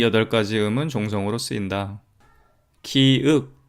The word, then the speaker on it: 기역: 시옷이라고 표기를 하고 있는데요 지금 최세진이 과연 기역 디귿 시옷이라고 읽었을까요 아마도 아닐 겁니다 그거 표현하고자 했던 음가는 이런 걸 거예요 그 느 드 르 무 브 스 으 또는 기 니 디 리 미 비 시이 끝 소리로 표현하고자 했던 것은 윽은 으을음 읍 으 응 그런 발음을 한차를 이용해 표현하고자 했던 것이죠 다른 것과의 통일성 연관성을 고려하 건데 기윽 디으 시옷이라고 표현하고 싶었다고 보는게 훨씬 합리적일 겁니다 이제 여기서 문제가 발생하죠